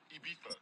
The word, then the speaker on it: Ibiza: I go to Miami just for Ibiza. Yeah, it's pronounced Ibiza, actually.